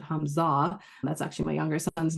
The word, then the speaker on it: Humza: It doesn't rhyme very well, but you would have to pronounce it Hamza.